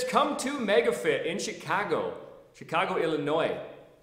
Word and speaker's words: Illinois: The business of fitness tip is come to MegaFit in Chicago, Illinois. The S is silent on the end of Illinois.